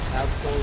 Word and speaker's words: Absol: Pronounce Absol like the Pokemon.